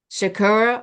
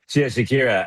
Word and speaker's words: Shakira: Shakur or Jennifer Lopez? Shakira or Jennifer Lopez. Okay, let me say it correctly. Shakira.